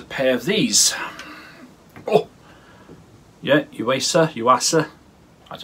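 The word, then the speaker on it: Yuasa: Yeah, Uasa. That's how you pronounce it.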